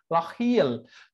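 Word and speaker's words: L'Oréal: সো এই খটাই লরিয়েল উচ্চারণ করার সময় উচ্চারণ করতে হবে লাহিয়েল।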